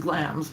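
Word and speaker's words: Glamis: It's pronounced glams, by the way.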